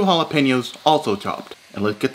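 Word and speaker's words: jalapeño: Then add 2 jalapenos, also chopped. And let's get this straight, white people. It's pronounced jalapeno, not jalapeno.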